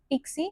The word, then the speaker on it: PKCE: something called as PKC which is pronounced as Pixie which stands for proof key for code exchange.